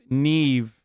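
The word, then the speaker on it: Niamh: bro that's how scottish say name naomi neve pronounced neve wait that's how you pronounce name where is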